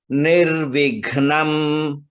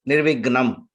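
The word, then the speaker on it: निर्विघ्नम्: Nirvignam. Gha is Mahaprana. Common mistake, people will say it as Nirvignam. It is not Gnam.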